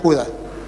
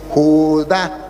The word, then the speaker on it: Judá: Y él leía Judas, al final Judas será salvo. Le dije, no hermano, aquí dice Judá, tiene acento en la ignorancia, es atrevida y lo lleva a decir cosas que no son.